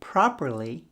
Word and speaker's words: properly: Probably uses the B sound and properly uses the P sound.